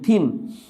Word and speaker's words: thin: যেমন এটা যদি এক্সাম্পল দিই, THIN, থিন। এখন আপনি এটাকে যদি ঠিন বলেন তাহলে হবে না, কারণ এই টি এর উচ্চারণ টি এর সাথে এইচ মিলিত হয়ে এটার উচ্চারণ হয়েছে থ, থন।